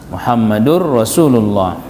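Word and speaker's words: مُحَمَّدٌ رَسُولُ ٱللَّٰهِ: Jadi Muhammadun do anggo lailahaillallah muhammadun rasulullah isajangin kalimatna maka diucapkan dia Muhammadun. Rasulullah Muhammadur Rasulullah ulang be nangkin adong bisi tanwin na Muhammadur Rasulullah disebabkan karena tanwin itu bertemu dengan huruf lam ee Muhammad huruf roh gunahnya maka hilanglah suara tanwinnya.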